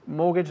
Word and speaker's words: mortgage: Mortgage means? Hipoteca. Muy bien, okay. Mortgage, y la T no se pronuncia.